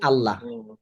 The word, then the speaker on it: আল্লাহ: আল্লাহ এটা ডাবল উচ্চারণ আচ্ছা ডাবল উচ্চারণ হচ্ছে তাহলে দেখেন আমাদের এখানে দেখতে পাচ্ছি আল্লা ইল্লাল্লাহ আল্লাহ তাবুদু ইল্লাল্লাহ এখানে এখানে আল্লাহ আর এখানেও যদি আমরা